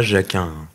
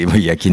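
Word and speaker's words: Jakin: Alors, c'est pas Jacquin. Oui. C'est mal prononcé, Yakin ou Yarin selon les... Voilà, mais Yakin et Boss, mais c'est pas grave.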